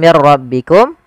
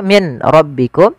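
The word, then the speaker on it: من ربكم: Walafal mir rabbikum, di sini nun sukun bertemu ra, maka kita namakan dengan idgham bila gunnah. Hanya masuk saja nunnya kita masukkan ke ra, dihilang awalnya min rabbikum, karena ketemu ra diganti mir ra langsung. Tidak boleh ditahan mir ra, tidak, tapi langsung saja.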